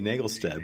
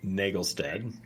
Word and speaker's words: Naglestad: going to mess up your name did i nagelstead it right right my good friend whose name i can't pronounce that's okay it's my name yeah prof nagelstead we have to drop the though right